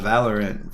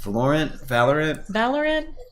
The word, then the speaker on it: Valorant: She's been playing a lot of Valorant. Valorant? I guess. Everyone says Valorant now, but I've been saying Valorant since it came out. Yeah. And on the wrong syllable.